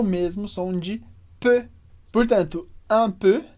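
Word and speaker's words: peu: comentário importante é sobre a pronúncia dessa palavrinha P que é e u mas o som é simplesmente e e que é um som que a gente não tem no português mas a gente pode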